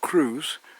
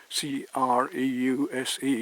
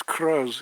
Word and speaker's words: Creuse: It's not Creuse, C-R-E-U-S-E, it's Creuse, it's pronounced Creuse here in France.